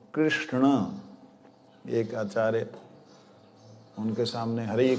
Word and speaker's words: कृष्ण: कृष्ण जब हम उच्चारण करते हैं ना, हम ऐसे बोलते थे ना, लेकिन ना ऐसा नहीं होता। अणा, कृष्णा, कृष्ण। जीव ऐसे घूम के आएगी। बोलो कृष्ण, जीव अंदर चलेगी।